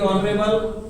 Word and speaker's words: honourable: इसमें an article आएगा, HONOUR ऑनर, HONOURABLE ऑनरेबल, ठीक है, ऑनरेबल, HONEST ऑनेस्ट, और HOUR और HEIR, ठीक है। इनमें एक्स साइलेंट होता है।